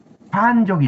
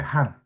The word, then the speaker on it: 환족: 환이라고 읽는데 이게 환족입니다. 그런데이 대학 교수 놈들이나 이런 놈들 전부 한이라고 읽어 버려요. 한 한이라고 읽어 버립니다.